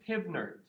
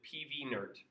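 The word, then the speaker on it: PV = nRT: He said he does not pronounce this PivNert. He pronounces it PVNert, which I don't like as much. I think PivNert makes a little bit more sense, but it turns out it's not unanimous across the scientific community.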